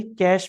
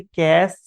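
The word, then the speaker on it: cache: Next memory है हमारी कैश memory. कैश भी पढ़ते हैं बहुत से लोग इसे। कैशे भी पढ़ते हैं और इसका सही प्रोनाउंसिएशन है कैश मेमोरी।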